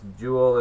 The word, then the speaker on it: joule: is what it looks like you know it's Joule is j o u l e that is the pronounced julno just so folks know so that's